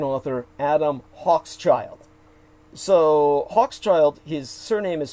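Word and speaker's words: Hochschild: remember the american author adam hawk's child so hawk's child his surname is spelled h-o-c-h-s c-h-i-l-d so he's probably of jewish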